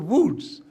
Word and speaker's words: Łódź: L-O-D-Z it is pronounced, but it is University of Łódź.